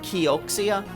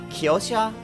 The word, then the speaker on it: Kioxia: I probably say it weirder than people say it like like it looks like Kioxia, but I always say as uh Kiosa cuz I think that's how it's supposed to be said.